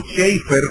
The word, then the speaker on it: Chafer: De hecho, Lewis Sperry Chafer, o Schaeffer, como se debe pronunciar en inglés, que es uno de